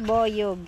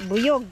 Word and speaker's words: boyog: Ang tamang bigkas is boyog, hindi buyog. Pero pag Bisaya kasi buyog. Kompleto na, may buyog, may lapinig din dito.